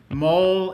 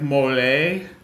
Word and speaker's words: mole: Yes, and mole is just like it sounds, like the little animal or the spot on your chin that you got to shave around, or it's not pronounced like mole, so it's not a food, and it has an abbreviation.